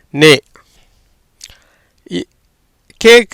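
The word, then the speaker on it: neck: நே. கேக்கு இக்கு. ஏன்னா அது என்னது? மெய் எழுத்து, புள்ளி வைத்த எழுத்து. சிக்கு உச்சரிப்பு கிடையாது.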